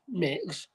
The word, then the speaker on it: Mx: like anyway, MX pronounced mix is a title rather than a set of pronouns and used instead of the gendered Mr.